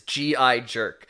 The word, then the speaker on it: G-Jerk: Oh, G-Jerk wrote into us, by the way, that said the pronunciation is G.I. Jerk, which is what his mom called him when he shipped off.